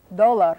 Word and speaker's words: dólar: Dólar would be D, O, accent on the first syllable.